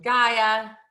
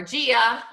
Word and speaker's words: Gaia: You know, the earth being Gaia, or Gia, I think is how they say her name sometimes, who is Mother Earth, and Uranus, who is the sky and the universe.